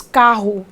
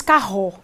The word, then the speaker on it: carro: sílaba tônica nós pronunciamos carro não pronunciamos carro em outras palavras Nós realmente Fazemos uma forcinha na primeira sílaba da palavra carro então esta palavra tem